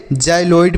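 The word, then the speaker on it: xyloid: एल ओ आई डी तो इसे हम क्या पढ़ेंगे जाइलो इड पढ़ेंगे क्या पढ़ेंगे जाइ लोइड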